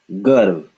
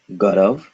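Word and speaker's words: गर्व: This is garv, garv, garv. This is not garav, it is garv.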